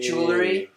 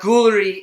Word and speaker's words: jewelry: So we got fucking jewelry. It's not Guilry, it's jewelry. Jewelry, all right. But, you know, it's pronounced different.